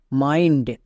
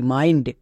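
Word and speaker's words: mind: আই এন ডি মাইন্ড যেহেতু আই এর পরে এন ডি আছে তাই এখানে আই এর জন্য শর্ট সাউন্ড হতো বাট এন ডি থাকার জন্য আই এর লং সাউন্ড হচ্ছে এম আই এন ডি মাইন্ড একই রকম ভাবে ফাইন্ড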